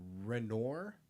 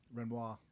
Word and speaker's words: Renoir: breaking in and stealing three high value paintings works by and I know I'm gonna butcher these because I don't know art. Renor Renoir Renoir Sesan Yaison and Matis Yep.